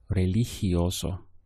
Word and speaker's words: religioso: The syllables will be re-li-hi-oso, religioso.